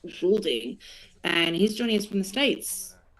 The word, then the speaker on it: Goulding: I've been saying Goulding, but I've realised that is the incorrect pronunciation. It's Kent Goulding, and he's joining us from the States.